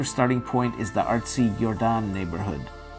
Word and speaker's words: Jordaan: While you can take a canal tour from different locations, a popular starting point is the artsy Jordaan neighborhood, pronounced just like the famous basketball player, Michael Jordaan.